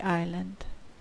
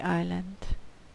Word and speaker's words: island: isla it's around the island the letter S is silent it's around the island number seven where's the